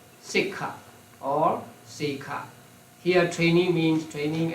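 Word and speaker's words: sekkha: now traines the p word for traines is sik you you have the word on page 179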